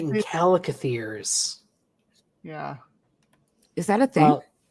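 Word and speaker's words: chalicothere: Oh, right, and calicotheres.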